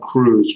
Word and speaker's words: Kruse: Yeah, so there are some researchers at Rutgers named Lisa Schur and Doug Cruz. Cruz is spelled Kruse.